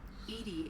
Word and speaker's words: EDI: EDI is the phonetic Because ID didn't pronunciation make of sense.